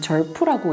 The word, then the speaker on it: XERF: 그중에서 저희 병원에 제가 선택한 레이저는 쉐르프라는 장비예요.이 미국 사람들은 절프라고 읽던데 절프 셰프 XF인데요.